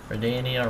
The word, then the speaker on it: Redania: Redania rhymes with Tamara.